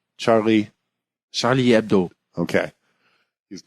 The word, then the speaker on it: Charlie Hebdo: now now is uh Dave how do you pronounce Charlie ABDO Charlie Charlie ABDO okay he's not just being kind of be